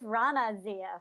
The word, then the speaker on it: Raana Zia: new guest online, and see if I can pronounce her name right. I think it's Raana Zia. Is that right? It's Raana Zia.